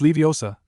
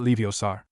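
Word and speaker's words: Leviosa: It's Leiosa, not Leiosar.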